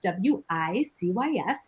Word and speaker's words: WiCyS: We often go by our acronym WiCyS, W-I-C-Y-S, and we pronounce it WiCyS, like we sisters, because that's exactly what we are.